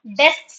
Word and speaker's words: desks: So, desks being I understood that it's little bit difficult for you.